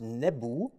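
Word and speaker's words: nbw: pronunciation of the world Noob is is more or less wrong because in ancient Egyptian it was pronounced nebu and there are more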